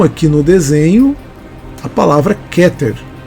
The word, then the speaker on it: Keter: lá número um aqui no desenho A palavra keter e você fala que ter na verdade nós falamos queter tá bom mas esse aí é um erro pequeno é um erro simples mas é keter e não quer que ter está errado é